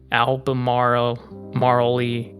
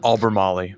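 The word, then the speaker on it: Albemarle: Interstate 64 eastbound ramp at Route 6166 in Alba Maro Mari County. I think that's how you pronounce it. Alberaly.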